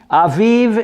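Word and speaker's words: אביב: pronounce spring in Hebrew Aviv is correct and there's the example of the bet without the dot such a sound like a V and another example in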